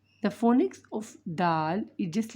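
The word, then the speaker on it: دال: When the tip of the tongue touch the upper 2 incisors, upper, with the gum line, Dal is pronounced Dal.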